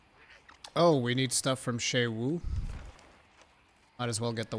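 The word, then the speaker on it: Suja: Zoo Woo is pronounced Sha Woo. Yeah, in the in the cut scenes that's how they pronounce it. Sha Woo.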